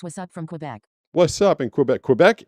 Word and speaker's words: Quebec: I know that because I went to Quebec. And I think you're supposed to say, I think Americans say Quebec, but I think if you're from there, you live there, you speak the language, they say Quebec.